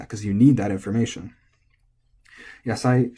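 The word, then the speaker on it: 野菜: Yasai should also be flat. Yep, yasai, nothing to worry about there.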